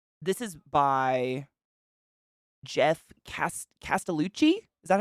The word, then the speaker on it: Castellucci: that this is by Jeff Castellucci is that how you say it castelucci yeah oh I was talking about Marilyn Manson